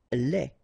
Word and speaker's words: lait: Lait. Un lait. Okay, so the only difference is the final thing here, D, you don't pronounce it, T, you don't pronounce it, so phonetically you only have this lait.